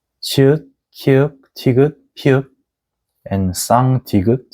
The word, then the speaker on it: 치읒: And this is 치읒, which sounds like English CH sounds like chocolate, chancellor, chance, like 촬영 and 축구.